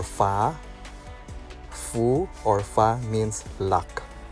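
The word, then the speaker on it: 福: it symbolizes a slack they pronounce it as Fu or fa Fu or fa means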